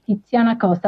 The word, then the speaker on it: Tiziana Coste: Am I pronouncing your name correctly? Perfectly. Titana Costa.